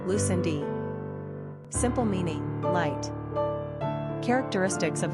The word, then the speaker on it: Lucinda: Pronunciation, Lucindi.